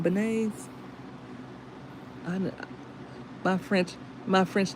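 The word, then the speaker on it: beignets: Are they banay or benise? I don't know how to say that. I never knew how to say that. Are they bananas? That's how you say it. Banay.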